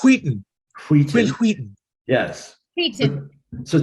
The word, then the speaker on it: Wheaton: David said I could pronounce it like Stewie and say Wheaton. So it's Wheaton.